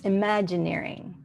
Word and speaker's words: Imagineering: It's like engineering, but it's imagineering.